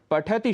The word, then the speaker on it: पठति: करते हुए बोलना है जैसे पठति शब्द में ठ पर यदि आप हल्का सा रुकेंगे तभी आप त में ह्रस्व ई बोल पाएंगे पठति खाद गच्छति ऐसे बहुत